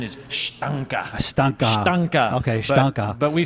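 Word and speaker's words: Steinke: Dustin, and I don't know if I'm saying his name, Stanky, or is it Stank? There's been a lot of debate about it. The actual correct pronunciation is Stanka.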